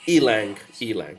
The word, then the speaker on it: ylang: I know it's spelled Y-L, but it's pronounced ylang.